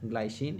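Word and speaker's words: glycine: ग्लाइसिन English में English में वैसे इसका ग्लाइसिन, अब हिंदी में आप इसका उच्चारण अलग अलग तरीके से कर सकते हैं, है ना। तो इसको ऐसा लिखते हैं ग्लाइसिन, है ना। तो इसको हिंदी में अपन ग्लिसिन भी बोल सकते हैं, लेकिन ये नाम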